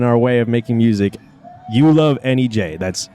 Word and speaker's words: YouLoveNEJ: You Love NEJ. That's You Love NEJ. It's exactly how it sounds.